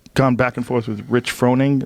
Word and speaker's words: Rich Froning: I know I've gone back and forth with Rich Froning. Is that how you say his name? Yeah.